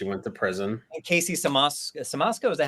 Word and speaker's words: Siemaszko: And Casey Siemaszko, is that how you say his name?